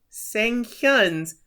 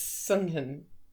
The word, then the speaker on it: Sung-hyun: Seoyu gulps and puts on the most charming smile he can and compliments Sang-hyun's brother for being so punctual. It's Sung-hyun. And he called him Sang-hyun.